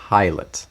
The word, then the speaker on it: Pilate: Pilate. Like a pilot. Like I'm flying Jesus to not the s- cross. It's not spelled the same.